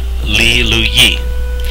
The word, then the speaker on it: Lee Lu Yi: My name is Lee Lewis, or pronounced in Cherokee, Lee Lu Yi.